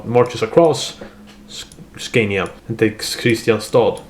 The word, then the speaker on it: Kristianstad: across Scania and takes Kristianstad, alternatively pronounced Kristianstad if you're a local, which I am.